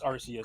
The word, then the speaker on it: Arceus: pronouncing it right. It's Arceus.